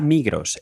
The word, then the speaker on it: Migros: La Migros o mejor dicho la Migro porque la S no se pronuncia en realidad.